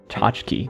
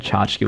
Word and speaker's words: tchotchke: Tchotchke. Tchotchke is so long, given that it's only 2 syllables. The first syllable is a... 7 letters long. Chotch.